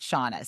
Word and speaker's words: Shanna: don't people my mom read a love novel and it was SHA, so it's like Shanna, but she gave birth to me, so we pronounce it Shauna.